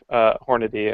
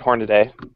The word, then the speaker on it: Hornady: It's about my pronunciation of Hornady, and because I called it Hornaday at one point.